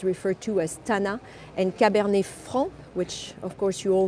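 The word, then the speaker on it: Cabernet Franc: the grape is referred to as tana and caber fr which of course you all know especially if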